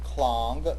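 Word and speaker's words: Klang: first syllable might mean clang looks a little bit and certainly could be pronounced like the English word clang which is some sort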